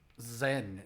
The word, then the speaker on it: Zyzen: Zyzen? Is that how it's pronounced? Zen is what I would call that. Or just Zen. I think just Zen. That's a very exotic name. See, you pronounce it Zen.